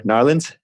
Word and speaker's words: New Orleans: today I'm actually in New Orleans Louisiana and I mispronounced New Orleans knowledge I think it's the way they like to say it here much better what are